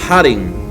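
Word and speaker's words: χάριν: se pronuncia se diría, la palabra gracia en el griego sería harin o haritos, que significa literalmente gratitud, significa favor. Y se escribe inicialmente con una X. Se dice con una J, pero se escribe como una X.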